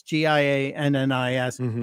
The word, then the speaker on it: Giannis: I can only pronounce his first name. Giannis. It's Gia Nis.